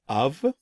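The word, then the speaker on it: אב: here that we see of it's pronounced like this of alif bit and it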